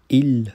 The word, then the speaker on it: ils: 's' होता है , इस 's' का उच्चारण नहीं होता है, उदाहरण के लिए, हम इसे 'ils' या 'elles' के रूप में नहीं पढ़ सकते हैं। हम इसे il और elle के रूप में पढ़ेंगे , लेकिन